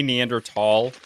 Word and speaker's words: Neanderthal: talked to an archaeologist just say neander tall because if you don't they will completely condescend you um well it's actually